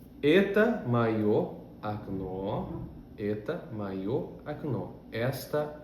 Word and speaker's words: окно: Por isso, o primeiro O, que não é tônico, tem o som de A.